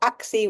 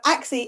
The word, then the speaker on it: ACSI: season, is something called ACSI or AXI, whichever way you want to pronounce it.